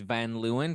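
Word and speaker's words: Van Leeuwen: ice cream brand called Van leuan van Luan yeah it's van Luan but they have an extra e in there what for the fun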